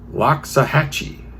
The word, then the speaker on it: Loxahatchee: Well, I'm going to try to pronounce this. Loxahatchee.